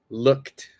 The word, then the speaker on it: looked: Yes, look will have a T pronunciation. So looked. All right, perfect.